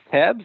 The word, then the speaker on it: TEBS: The acronym is pronounced Tebs.